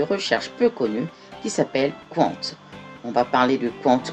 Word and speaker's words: Qwant: le logo un cul qui s'écrit q w1 nt1 cointe - je lis compte ça peut se lire compte où pendent je ne sais pas voilà à vous de voir mais moi je lis compte voilà donc ce moteur